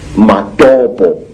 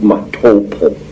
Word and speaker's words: Matopo: And one of these parts of Africa, say, is a remarkable place called the Mountains of the Round Rocks, Matopo, wrongly pronounced Matopo, in Zimbabwe.